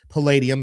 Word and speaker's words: palladium: I said Palladium is the right way to say it.